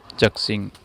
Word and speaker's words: ZXing: by the Google, and I pronounce it as Z-xing.